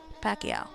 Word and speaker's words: Pacquiao: Paso or Pacquiao Pacquiao okay I see I see yeah that makes more sense the Que in there Pacquiao cool thank you I